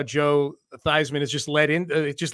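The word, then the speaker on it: Theismann: change the pronunciation to fisman because it rhymes with Heisman and that'll help your candidacy ultimately it was unsuccessful but I like how Joe thyman has just LED in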